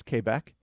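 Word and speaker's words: Québec: really really enjoy is Quebec or if you're phonetically pronouncing you know it's kbecque ugly ugly bored man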